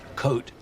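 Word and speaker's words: Côte: Coat. The S is silent.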